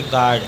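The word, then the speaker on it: guard: पढ़ेंगे गिटार अगला है जी यू ए आर डी यू के बाद ए है इसीलिए यू साइलेंट इसको पढ़ेंगे गर्ड अगला है बी यू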